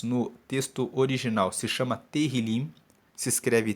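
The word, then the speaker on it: Tehilim: livro de Salmos no texto original se chama terril se escreve t e h i l i m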